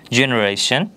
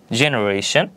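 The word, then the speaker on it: generation: যদি আমরা দেখি এখানে বলা হয়েছে geology geology জেনারেশন জেনারেশন geology জেনারেশন যার অর্থ হচ্ছে ভূততত্ত্ব ও প্রজম্য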